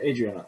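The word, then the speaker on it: Hadrianna: you say her name again adriasana adriana oh adriana okay h a d r i a n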